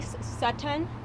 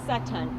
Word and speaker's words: Sutton: may have good morning my name is sutan I will spell that for you l a TI CE e last name is Satan S as in Sam u t t o